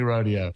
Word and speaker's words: rodeo: We can't decide if it's pronounced rodeo or rodeo. Do you have any thoughts on that? When it comes to country music, it's definitely rodeo.